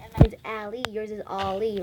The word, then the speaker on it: Ally: Is the A like supposed to be pronounced as an O? Yeah, like all.